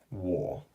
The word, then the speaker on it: 我: okay and just to remind you this is pronounced wool and it means I okay now the next